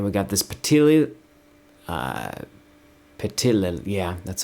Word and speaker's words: Petilil: And then we got this Petilil, Uh Petilil, yeah, that's how you say it.